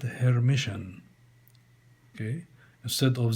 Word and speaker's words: Hermitian: transpose becomes a hermitian it is pronounced a hermitian for example a which